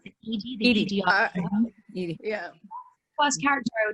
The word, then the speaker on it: EDI: Is it pronounced Edie? The Edie.